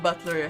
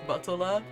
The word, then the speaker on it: Battler: So yeah, and Butler has suffered the same fate. This is like fighter, if I recall correctly, it sort of translates to, but it's not supposed to be pronounced Batola, usually, and yes.